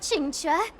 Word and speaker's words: Qingque: on let's go Yep this spot hurry up chincha we'll be fossils by the time you're finished enjoy and that's how you pronounce it I heard there was a disaster